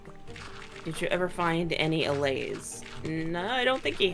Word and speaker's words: allay: Um, it I didn't know if I was pronouncing it wrong or something cuz that's been known to happen. No, I'm I'm pretty certain that that that you said it right there, the allay.